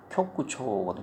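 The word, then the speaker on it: 局長: 그러니까 쿄구 그래서 국장이면 쿄구초거든. 쿄구초 장 어떤 장이다 그럴 때는 초로 읽는 경우가 되게 많습니다.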